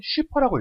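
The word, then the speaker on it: 超: 할 때 그 초아요 원작에서도 초라고 쓰지만 읽기는 슈퍼라고 읽어요 그래 슈퍼 사이어인 슈퍼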